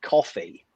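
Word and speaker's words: Ko-fi: No one knows how to pronounce the name of the website that is clearly coffee, because it's about buying someone a coffee. Yeah, everyone wants it to rhyme with Kofi Annan.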